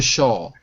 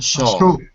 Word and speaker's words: shawl: Number 23 is a shawl. A shawl. Sure. Yeah. But it sounds like the word Shah, like the Shah of Iran.